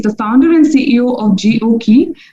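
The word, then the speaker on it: GOQii: founder and ceo of gokey pronounced jioki mr gondolas the founder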